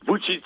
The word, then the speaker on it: Vučić: Alors, vous allez peut-être me reprendre sur la prononciation, c'est Vučić ou... Vučić. Vučić.